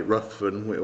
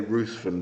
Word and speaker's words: Ruthven: So I've got to pronounce it the proper way. Ruthven. I say Ruthven down in England land.